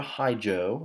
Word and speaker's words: hijo: It's not a hijo. Okay, remember the H in Spanish is silent, so it should be